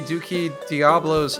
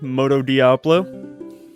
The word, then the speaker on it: Moto Diablo: And it's going to be Duki Diablo's first performance. I believe it's Moto Diablo. I want to say you are correct on that, Dolan. Moto Diablo.